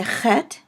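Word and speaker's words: ח: because it is a head and it is a called a guttural and it is sort of pronounced in the back of the throat as in the name Locke or Bach those who might speak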